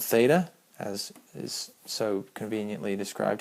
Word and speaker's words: theta: the symbol just so happens to be but um and it's pronounced theta.